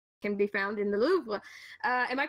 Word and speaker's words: Louvre: And a lot of the pieces I am most interested in seeing in real life can be found in the Louvre. Am I pronouncing that correctly?